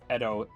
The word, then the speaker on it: EDO: That is how you pronounce it, by the way, if you go onto the Project Ignis Discord, they actually tell you it's Edo, E-H-D-O.